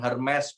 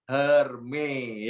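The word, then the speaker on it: Hermès: diajarin sama teman saya bacanya bukan Hermes Pak hanya hermei al-khalifah seneng saya surat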